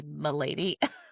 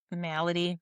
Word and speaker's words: malady: whenever I look at it makes me want to say my lady Yeah. Malady.